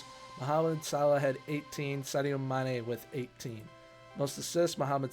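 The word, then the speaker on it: Sadio Mané: Sadio Mane, there we go.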